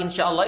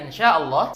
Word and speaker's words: Insyaallah: wa in insyaallahuuhtadun suara Nun sukunnya kita samarin karena di sini ada hukum bacaan ikhfa Hakiki dan syinnya kita panjangin empat atau lima harakat karena di sini ada